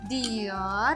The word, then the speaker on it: Dior: Dior, jangan Dor. kayak orang kampung dong.